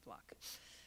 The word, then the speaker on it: Fluke: I know people refer to it as Fluke, but it's actually pronounced Fluck. I debated her at Albany Law School, and it is pronounced Fluck.